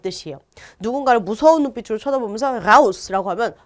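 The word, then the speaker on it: raus: 라우스 하면은 밖으로 라는 뜻이에요. 누군가를 무서운 눈빛으로 쳐다보면서 라우스라고 하면 너 나가 이 뜻이 돼요.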